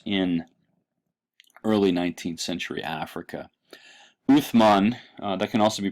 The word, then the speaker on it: Uthman: Uthman, that can also be pronounced Usman. It's the transliteration of the same Arabic letter. In some cases is pronounced with an S sound, in some cases pronounced with a TH sound.